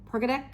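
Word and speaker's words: Pogradec: Peradec is how it's spelled, but not how it's pronounced.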